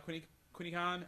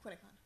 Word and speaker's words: Quinni Con: They're part of the group of putting on Quinni Con. I think that's the right way to pronounce it. Yeah. Close enough. Close Quinni enough. Con. What? Quinni Con.